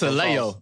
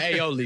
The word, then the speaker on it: aioli: That's a Leo. That's a Leo. I know a Leo when I see it. What's a Leo? That's our word. That's what we call an aioli because he said it wrong.